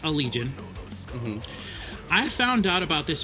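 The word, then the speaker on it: Allegaeon: seen it it's a-l-l-e-g-a-e-o-n but it's pronounced a legion I found out about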